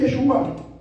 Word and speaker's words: Yeshua: Yeshua significa salvación, pero lleva acento en la A, no en la U.